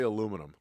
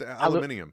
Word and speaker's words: aluminium: if you're trying to get them to say aluminum yeah this is true what is it it's aluminium aluminium uh it's actually it's pronounced temo I think is is what temo